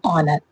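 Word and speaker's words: honour: होता है नेक्स्ट है ऑनर ऑनर की स्पेलिंग क्या है एच ओ एन ओ यू आर ऑनर लेकिन क्या है एच उसको साइलेंट रखा गया है यहां पर भी।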